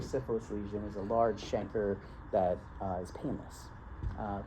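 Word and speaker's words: chancre: I is do you pronounce it shanker or canker? I think it's shanker. But why do we say canker?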